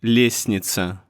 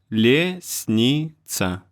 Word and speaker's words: лестница: Like in лестница, лестница, or in грустно, грустно.